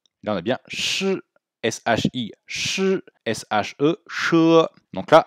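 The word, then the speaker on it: 师: Le mot suivant, shi. Alors, shi, vous entendez qu'il y a un petit E. Pourtant, ça s'écrit avec un I.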